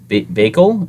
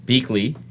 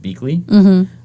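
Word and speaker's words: Biechele: um let's see bakel is pronounced okay it's pronounced beakley it's a b-i-e-c-h-e-l-e it's pronounced beakly i don't know who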